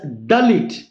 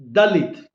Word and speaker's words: Dalit: In Hebrew Dalit is pronounced as Dalit. D for Delhi. D for Diamond. D for Dalit. Generally in India, in Hindi language we pronounce Dalit as Dhalith.